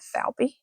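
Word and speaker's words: Valpy: lot of Fiona falpy so v-a-l-p-y falby I just think is how you pronounce it and Jose I like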